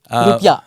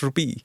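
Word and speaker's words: rupiah: They actually have the correct pronunciation. Rupiya. Yeah, rupiya. Rupiya is the correct pronunciation, uh not rupee.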